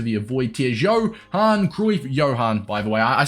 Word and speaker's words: Johan: the way I say Johan is a habit I do it on Twitch all the time because I've got a viewer called Johan no it's Johan all right but Jay is silent Johan Cruyff is going